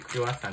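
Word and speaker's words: クロワッサン: 言って、クロイッサンって書いてる。それでクロワッサンって読む。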